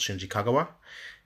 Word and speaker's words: Shinji Kagawa: Dortmund because obviously you know previously you had Shinji Kagawa um or I guess properly pronounced Shinji Kagawa um but now you've actually got one at